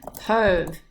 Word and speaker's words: peuvent: And then finally for il, elle au pluriel, pouvoir becomes peuvent, P-E-U-V-E-N-T. Just another little reminder here, this E-N-T on the end, you don't pronounce it, okay?